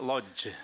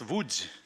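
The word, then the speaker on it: Łódź: may uh think yeah it's not Lodge it's Vu and U Vu is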